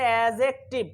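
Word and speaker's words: adjective: আসলে এখানে ডির উচ্চারণ হয় না, অর্থাৎ ধর উচ্চারণ হয় না, উচ্চারণ হবে অ্যাডজেক্টিভ। উচ্চারণ কি হবে, উচ্চারণ হবে অ্যাডজেক্টিভ, ঠিক আছে।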